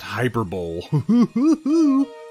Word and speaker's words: hyperbole: guide to the class oh excuse me is pronounced hyperbole commissar iguana bringing up the relative level of